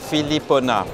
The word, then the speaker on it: Philipponnat: names sh and Philip both of them you don't pronounce the last letter that's right can you say it correctly for us so is my first name philipona all right philipona with